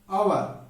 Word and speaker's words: hour: An hour.